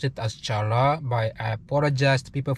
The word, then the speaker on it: challah: So they don't pronounce C.